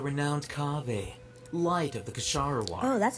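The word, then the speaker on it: Kshahrewar: now you're the renowned cave light of the kasharawa oh that's how you say it besides okay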